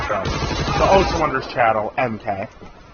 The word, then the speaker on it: MK: Well, I was watching r/Suzy from the Ocean Wonders channel, MK. It's EMKAY, or EMKEY. Yeah, it's MK, that's pronounce it like that.